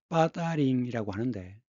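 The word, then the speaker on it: 八達嶺: 중국 발음으로는 빠다링이라고 하는데, 이 8달령 이 지역은 중국 북경에서 버스로 1시간 정도의 거리에 있는 곳입니다.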